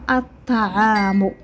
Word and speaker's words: الطعام: ال زائد تعامل تعطينا الطعام الطعام اذن هذه هنا لم تنطق قلنا الطعام ما قلناش الطعام اذا في جمله مائده